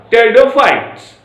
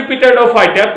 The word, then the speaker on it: Pteridophytes: Pteridophytes. P is the silent. Pteridophyta. Not be pteridophyta. P is silent.